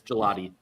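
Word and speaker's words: Gillotte: But I was going to say so is that do you pronounce that? Gelotti like the like the dessert. Gelato. Yes, it's Gelotti.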